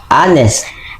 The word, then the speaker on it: honest: Number one. Honest. H is a silent.